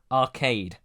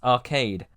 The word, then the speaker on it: Archaide: replica display of them on a planet called Arcade. Unlike Finder's Crispy Pancake or whatever it was called, I'm 1000% sure that word is pronounced Arcade.